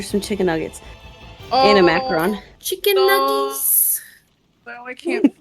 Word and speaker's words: macaron: chicken nuggets and a macaron. Chicken nuggets. Oh, I can't think. Wait. Wait. What' you call it? A macaron. is what she called. Macaroon. This is not a macaroon. It's a macaron.